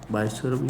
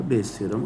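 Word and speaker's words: Bayes' theorem: तो ये जो तरीका है इस तरह से पूछने का, ये होता है बायस थ्योरम का, बायस थ्योरम या बेस थ्योरम, आप कुछ भी प्रोनाउंस करो।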